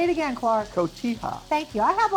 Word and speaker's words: Cotija: Cotija. Thank you. I have a hard time pronouncing that, as you know.